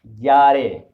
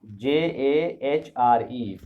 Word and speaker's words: Jahre: Jahre. Jahre. Let me tell you one more secret, that most of the European languages, unlike English, J is pronounced as year.